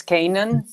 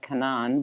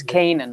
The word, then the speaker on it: Canaan: Well, I mean, it's Canaan. It's Canaan. Canaan. In Lebanese, you would say Lydia Canaan, but in English, Lydia Canaan. it's Canaan, like the land Yeah. of Canaan.